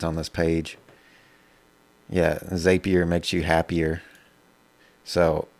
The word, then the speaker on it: Zapier: on this page yeah zapier makes you happier so i know i'm saying it wrong zapier makes you happier so it messes with me every time zapier let's pull open